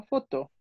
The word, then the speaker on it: photo: Ok, acuérdate que es nada más no pronunciar la última letra y también y que el acento es al final. No es foto, sino foto.